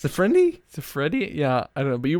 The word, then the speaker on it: Siffredi: back to Rocco Rock you put some extra letters and syllables in there Rocco sifrin d it's a friendiy siffredi yeah I know but